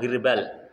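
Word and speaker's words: غربال: Perputaran biji fil girbali, dalam girbal. Ya. Bikasril ghaini dengan mengkasrahkan ghainnya hi, bacanya girbal.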